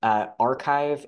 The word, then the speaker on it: arXiv: To start, all of these tend to be pronounced about the same way. Archive, ARXIV, was the original preprint server.